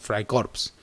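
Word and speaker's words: Freikorps: eran Hombres de acción se escribe Fray corps pero en alemán la e y se pronuncia Ay Por eso decimos Fray corps Ese es el clima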